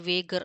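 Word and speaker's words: wager: I made வேஜர் ஆர் வேகர், அது எப்படி வேணா ப்ரொனவுன்ஸ் பண்ணிக்கோங்க.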